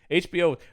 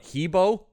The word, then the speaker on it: HBO: Yeah, that was the '90s one that I was just, man, HBO, or as my grandfather once. I think I've talked about other pronunciations of his. For some reason, he would call it Hebo.